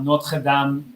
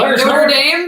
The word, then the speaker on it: Notre Dame: It's like how Americans call Notre Dame, Notre Dame. I actually did not know how to pronounce Notre Dame until we came to France. Mm-hmm. I was going around like an idiot. Saying Notre Dame?